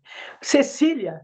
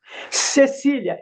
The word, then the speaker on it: Cecília: Para te dar um exemplo, o meu nome é Cleide, se escreve com C. Cecília se escreve com C, mas são sons diferentes. Cleide é som de K. Cecília é som de S.